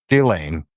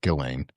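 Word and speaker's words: Ghislaine: Maxwell does to Chislain Gillain. Sorry, Gileain. Um because that's actually how you say her name and I'll say it.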